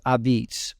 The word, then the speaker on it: a'pizza: and it's that's how it's spelled and it's pronounced abids from a completely biased perspective I would say